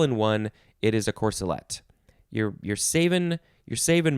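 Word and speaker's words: corselette: how it's all related okay number two is pronounced corsalette and it could also be spelled with an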